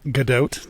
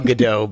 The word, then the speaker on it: Gadot: wasn't it yeah was it her name's actually pronounced Godot I like Gal Gadot better though it sounds a little bit more